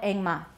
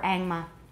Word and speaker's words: engma: line stick up here we call it engma we often call it engma or angma and then we have